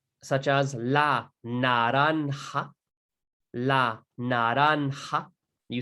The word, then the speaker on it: naranja: N, such as la naranja. La naranja. You say it as well. La naranja. Naranja, as you can see, has a J over here, and that is pronounced like a ha, right?